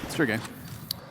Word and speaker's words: Sergei: scout is bought first surge Sergei Sergei I have the temptation to try to say it without making it an extra syllable all right that's fair